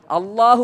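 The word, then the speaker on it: الله: നാവിൻ്റെ തല ചില ആളുകൾ മുൻപല്ലിൻ്റെ പുറത്തിട്ട് അള്ളാഹ് എന്ന് പറയും, ചില ആളുകൾ മുൻപല്ലിൻ്റെ ഉള്ളിൽ തട്ടിച്ച് പറയും, ചില ആളുകൾ മുൻപല്ലിൽ തട്ടാതെ ലാം പറയുന്ന സ്ഥലത്ത് വെച്ച് പറയും. ഇതിൽ ശരിയായ ഉച്ചാരണം ലാം പറയുന്ന ഇല്ല പറയുന്ന അതേ സ്ഥലത്ത് വെച്ചാണ് അള്ളാഹു പറയേണ്ടത്.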